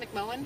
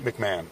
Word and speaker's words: McMahon: McMohan? McMahon. McMahon, even though it's spelled Yeah, it's McMahon.